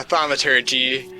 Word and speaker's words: thaumaturgy: I'm gonna cast, how do you pronounce this stupid word? Thaumaturgy? Yeah, thaumaturgy.